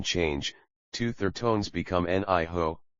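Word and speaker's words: 你好: Two third tones become niho. Zixie. Thank you. Essential for polite interaction. The second is pronounced in the neutral tone.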